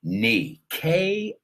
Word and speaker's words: knee: That's a word with a silent K, knee, Knee.